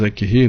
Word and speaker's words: Curie: Tanto Crookes, como Röntgen, como o casal Curie, Madame Curie, se escreve Curie, mas Curie, né?